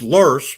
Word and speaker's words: loess: that are wind-blown sediments, pronounced loess, but spelled Loess.